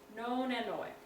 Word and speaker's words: nonanoic: Nonanoic is how you say that.